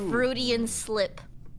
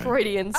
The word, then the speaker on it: Freudian: you bad bamboozled i thought that was a fruity and slip wait that could be the imposter what what slip that's not how you pronounce it she's close fruity and slip she's